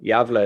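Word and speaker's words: Gävle: i was all in i'm probably going to pronounce this place wrong are you going javila is that right yeah that's her that's her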